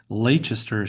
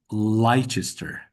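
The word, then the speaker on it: Leicester: this uh English town which I read as Lchester should actually be Lester try to remember that tip about pronouncing the second vowel I've seen that in a couple.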